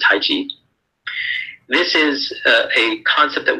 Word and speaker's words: Taiji: art of Taiji Chuan, of Tai Chi, some people pronounce it, but it's Taiji.